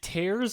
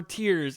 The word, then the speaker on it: Tears: Reddit all over were "Is it tears or tears? It's spelled the same way. I don't know." And then Nintendo had to officially come out and say it's tears, crying.